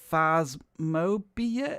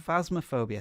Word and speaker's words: Phasmophobia: channel is all about faz mobia is that how you pronounce this game spasmophobia phasmaphobia thank you uh see i'm i'm